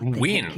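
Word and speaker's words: Wynne: I thought Win, that's her name. I've always pronounced it as Wayne.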